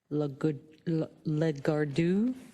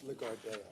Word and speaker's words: Lagardère: It's Lagardère. Lagardère. Is that Lagardère? The R is silent.